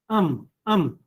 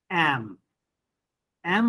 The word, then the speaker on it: am: of the sentence and its pronunciation is um um but when you use it as strong form then it is am am i very late am